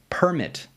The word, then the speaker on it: permit: In a lot of two-syllable words, if you emphasize the first syllable, it makes it a noun, and if you emphasize the second syllable, it's a verb. first syllable, noun, second syllable, verb.